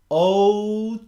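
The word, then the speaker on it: Ohtani: But, the first 2 weeks in, it's 3 syllables, brother. Otani.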